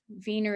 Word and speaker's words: Wiener: group the wiener virgstadt wiener is the german pronunciation for vienna that was in austria